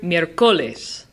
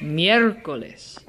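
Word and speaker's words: miércoles: to follow the rule this word ends in an S which means that naturally it's Jana so the emphasis should be on the second to last syllable but that would make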